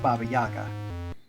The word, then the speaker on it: Baba Yaga: that preceded VGA yeah but it would be pronounced Baba Yaga so that's the pun